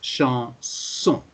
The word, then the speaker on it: chanson: It's an exception here because normally it should be z. You're quite right because there's one S in the middle of the word. But exceptionally, it's pronounced like a double S. So there are irregularities. There are exceptions. So in this case, it's chanson.